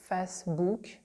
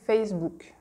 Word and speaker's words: Facebook: with the examples so for example the word Facebook Facebook we're not going to say fastboot because that's just too much it just sounds ridiculous so we're going to say Facebook Facebook right Facebook the book